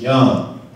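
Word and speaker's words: יוֹם: And this particular word, time, comes from a Hebrew word in the Bible, and it's pronounced as yom.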